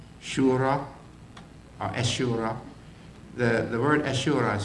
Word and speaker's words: Ashura: The word Ashura is spelled wrong. The H is missing. It should be A-S-H-U-R-A. Ashura. Ashura. It's almost like two H's.